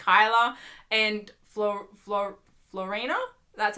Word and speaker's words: Floriana: entirely sure if that's just like Chyler and Florina, that's how you say her name, or if it's Alex and Maggie.